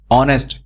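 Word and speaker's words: honest: वाला वर्ड है ना ऑनेस्ट ऑनेस्ट में आप बोलते क्या हो आप यह बोलते हो ऑनेस्ट आप एच को साइलेंट कर देते हो आप एच नहीं बोलते तो इसके आगे आप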